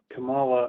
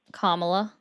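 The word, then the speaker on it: Kamala: Uh Camala, I Kamla. Oh, sorry. You're fine. just we want to pronounce names correctly and that's my bad up.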